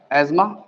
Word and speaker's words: asthma: तो आप एक काम करेंगे, सबसे पहली कंडीशन है एस्मा, लिखते अस्थमा है, इसे प्रोनाउंस एस्मा ही किया जाएगा।